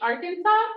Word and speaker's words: Arkansas: 20oo uh 21 Aras I think it's really weird it's Arkansas but it sounds like it should be Aransas but Arkansas in Spanish is Aransas really yeah